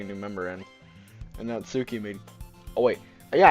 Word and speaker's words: Natsuki: And Natsuki made Oh, wait. Yeah, I figured out her name is actually pronounced Natsky.